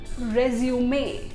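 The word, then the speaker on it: résumé: ये word English का नहीं है, ये किसी फॉरेन लैंग्वेज से लिया गया है, लेकिन इसको एज इट इज़ ले लिया गया है, इसलिए इसका प्रोनाउंसिएशन थोड़ा सा हटके होता है। इसकी स्पेलिंग तो रिज्यूम वाली ही है, लेकिन इसका प्रोनंसिएशन रेज्यूमे। रेज्यूमे क्या होता है?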